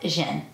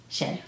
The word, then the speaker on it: Zhen: line on top, and it's pronounced Zhen Palace. Z-E-Z-H-E-N, Zhen.